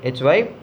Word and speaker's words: hyperbole: Hyperbole, hyperbole. The pronunciation of this word is hyperbole.